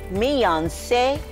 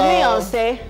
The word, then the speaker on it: Miyonse: Okay, so here with me in the kitchen is Miyonse. That's actually how to pronounce his name.